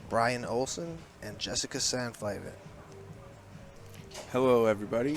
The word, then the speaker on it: Olsen: Oh, I pronounce it like O-L-S-I-N. Olsen.